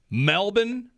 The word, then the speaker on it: Melbourne: My cousin called and said, this is how you say it. He lives in Melbourne. Even though there's an R. That's right. Silent R.